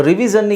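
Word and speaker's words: revision: ಉಚ್ಚಾರಣೆ ಮಾಡ್ತೀರಾ ರಿವಿಷನ್ ಸೊ ರಿವಿಜನ್ ಗೆ ಸ್ಪೆಲ್ಲಿಂಗ್ ನಾವು ಹೇಳೋದಾದ್ರೆ ರಿವಿ ಜನ್ ಝೆಡ್ ಯು ಎನ್ ಜನ್ ಆಗುತ್ತೆ ಜನ್ ಅಲ್ಲ ಶನ್ ಅಲ್ಲ ಜನ್ ಅಲ್ಲ ಜನ್ ಓಕೆ ಅದು ಬಹುಶಃ ನೀವು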